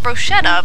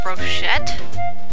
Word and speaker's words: brochette: it is uh BR brochette not brocheta but brochette brochet probably brochet if it's French yep I'm going to